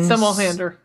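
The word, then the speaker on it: Somerhalder: This is how do you pronounce his last name? It's Ian Somelhander.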